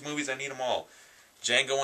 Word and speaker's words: Django: i need them all django unchained the d is silent but uh the movie's